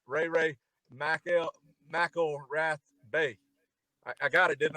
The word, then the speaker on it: McElrathbey: Ray Mcelrathbey.